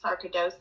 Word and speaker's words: sarcoidosis: You were diagnosed with a rare form of the disease, sarcoidosis.